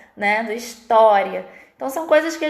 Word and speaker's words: história: Eles não leem história, eles vão ler historia. É uma coisa que não faz sentido, mas eles leem dessa forma, mesmo tendo um acento agudo no O, né? Do história.